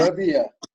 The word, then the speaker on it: Namibia: How do you pronounce it? Namibia. Namibia.